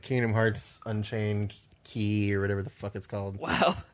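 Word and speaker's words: χ: it's uh that symbol that symbol is is is pronounced key like they explained it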